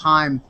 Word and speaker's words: Haim: talked-about artists were Haim looks like Haim but it's pronounced Haim la girls who are